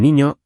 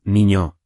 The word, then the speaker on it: niño: Otra cosa súper importante antes de empezar, la pronunciación de la ñ. No es una N normal. Suena como en guay, como en niño, España, año. Practica con la boca, niño, año.